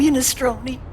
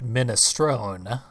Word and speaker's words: minestrone: on you want some unis stroked me an Italian person would have pronounced it minestrone but that's fine we're